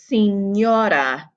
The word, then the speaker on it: señora: Think in your head how you think it would be pronounced with the E, O, and A, and the N with the tilde on it. This word is pronounced señora. Rule number 4, we have